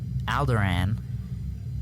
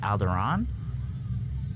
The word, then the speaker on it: Alderaan: the guard, Padme's guard, mentions that someone from Alderaan is in the running to become the next chancellor. And we said it's funny how they pronounced it wrong, and how it's actually pronounced Alderaan.